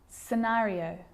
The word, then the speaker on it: scenario: muscle scissors fascinate seem scenario so that's the silent sea so what about the